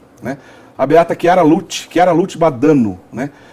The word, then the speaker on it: Badano: Badano, essa é a pronúncia correta.